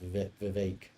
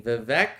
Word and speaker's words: Vivek: imagine this Peter vivec I think it's pronounced Vivek Vivek Scott versus Newsom Whitmer